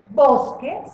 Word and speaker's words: bosque: el bosque por ejemplo bosque se escribe con q escribimos la u pero no la pronunciamos vamos a ver otra